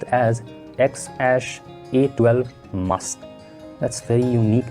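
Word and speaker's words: X Æ A-12: Well, it's pronounced as XAsh-A12 Musk.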